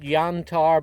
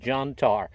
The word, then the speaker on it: Jantar: Now I'm calling it Jantar because this has a European pronunciation. If you look at the name here in America, we'd probably call it Jantar.